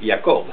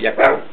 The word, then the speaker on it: Jacob: A mí me gusta pronunciarlo al estilo hebreo, que es Jacob. Está bien, es lo mismo. Jacob, Jacob, los dos están bien.